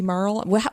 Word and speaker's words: Marle: I've always called her Marley, because it makes me think of Governor Marley, but it might be Marl.